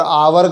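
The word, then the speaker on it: hour: घंटा लेट है और आवर का पहला साउंड होता है आप जो कि बिल साउंड है यहां पर एक साइलेंट है तो इसलिए लगेगा एन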